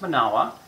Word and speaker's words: Manawa: is the moment of power so it's it's pronounced manowa and we say they say in a way